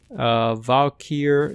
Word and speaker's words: Valkyr: Valkyrie, yes, I said it right.